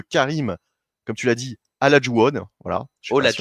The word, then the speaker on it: Olajuwon: Olajuwon.